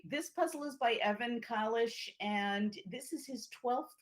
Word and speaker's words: Kalish: us know we'll we'll split the difference and make it somewhere between a long a and a short a but at any rate this puzzle is by evan collis and this is his